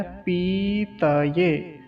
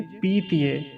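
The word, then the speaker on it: पतये: पी तय पी तय अब इसे ध्यान से देखें पतय कुछ लोग इसका उच्चारण कैसे करते हैं पीत कह देते हैं पतय यानी कि त को आधा बना देते हैं तो आधा नहीं करेंगे गलत उच्चारण कैसे करते हैं पहले वह देख लीजिए पीतिए तो पीत नहीं कहेंगे क्या कहेंगे पतय तय ऐसा अब एक गलती यहां भी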